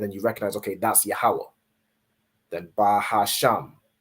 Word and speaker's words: Yahweh: So you're not saying like Yehovah or however the oppressor would pronounce it. However they pronounce it with their Yiddish. You convert it into the ancient Hebrew. So you're saying Yahweh.